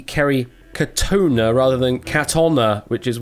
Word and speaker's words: Katona: Well, can reveal that the correct answer is forever from this point onwards, Kerry Katona. Kerry Katona, not Katoffa.